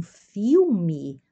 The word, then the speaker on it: filme: De vez em quando nós assistíamos um filme no cinema. Observa a pronúncia aqui, filme, né? O L que se pronuncia uma U e uma E final é I, né?